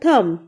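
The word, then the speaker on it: thumb: Next है अंगूठा, अंगूठे को इंग्लिश में कहते हैं थंब, थंब. यहाँ पर बी साइलेंट रहेगा.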